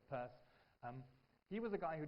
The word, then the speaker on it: Peirce: That particular name, Peirce, okay, it's written differently, I know, but he pronounces it as Peirce.